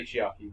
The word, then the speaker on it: Chiaki: Or would you pronounce it differently? Chiaki? Yeah, I would say Chiaki. I will go with Chiaki then.